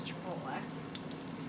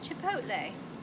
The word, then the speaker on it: chipotle: you could do if you didn't want the chipola chipotle chipotle and i still can't say it right chipot chipotle there it is now this makes a really